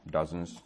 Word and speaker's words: dozens: Výborně, tam si dávajte bacha na výslovnost, tam není o, ale a, dozens.